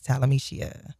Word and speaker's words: Talameshia: It's Talameshia.